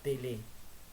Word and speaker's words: tele: Y la sexta dimensión tiene que ver con lo que Pillon llama tele, que es T-E-L-E, con acento en la E, que tiene que ver